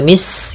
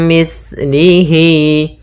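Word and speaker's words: مِثْلِهِ: Kemudian hati-hati dalam pelafalan sa, jangan dibaca mis gitu ya, tapi di situ sa, mis, mim mislihi.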